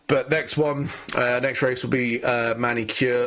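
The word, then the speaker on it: Magny-Cours: So, but next race will be Manicure, or Manicourt, I think is how you pronounce it over in France.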